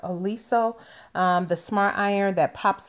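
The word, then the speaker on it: Oliso: And of course, this is always on my wish list is pronounced Aliso, the smart iron that pops up when it's just sitting down.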